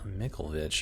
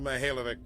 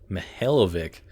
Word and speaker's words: Mikhailovich: Rear Admiral Mikhailovich, huh? Mikhailovich. Rear Admiral Mihailovic, 5th Fleet. That is not at all how I pronounced your name. Mihailovic.